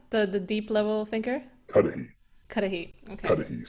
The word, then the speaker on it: Cuddihy: And um how do you pronounce the the second one? The the deep level thinker? Cuddihy.